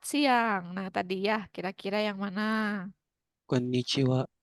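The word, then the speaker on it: こんにちは: Ya, konnichiwa, benar. Tapi bagian akhirnya menggunakan H, tidak apa-apa, memang seperti itu untuk selamat siang atau selamat malam, Anda menggunakan konnichiwa, dan apa yang ada di awal?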